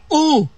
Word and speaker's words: eau: We say eau. Oh, like the letter O? Oui, but it's written E-A-U. E-A-U make the sound O without the letter O.